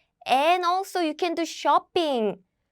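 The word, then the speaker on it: 쇼핑: And also you can do shopping. This is how Korean people pronounce shopping.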